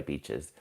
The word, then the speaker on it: beach: So, you must be surrounded by beaches. Darn Singh, beach. Aurora, thank you for correcting your spelling. Maru Akmed, thank you so much for joining. Beach with a long e, not a short.